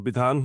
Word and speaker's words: Bidhan: backstory and Babel yeah um happy to um ban my name if you are wondering how to